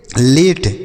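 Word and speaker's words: late: उसके बाद एल ए टी ई, तो इसे हम पढ़ेंगे लेट, एल ए टी ई लेट।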